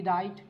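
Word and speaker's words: wright: मैंने लिखा डब्लू आर आई जी एच टी राइट और एक और वर्ड मैंने लिखा सर आर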